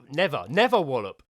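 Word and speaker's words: Nether Wallop: Oh, no, it's not never. Never wallop. But it's spelled Nether. Never.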